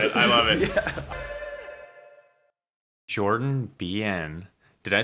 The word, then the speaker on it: Behan: Jordan Behan.